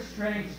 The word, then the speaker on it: strength: one here strength okay the word strength has three consonants in the beginning and absolutely depending on how you pronounce it i pronounce it with four with a cut in there has four consonants at the end that's that's a one syllable word i mean it's amazing